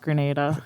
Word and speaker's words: Grenada: dad wanted to let you know that it's pronounced grenada thank you sir i thought i was being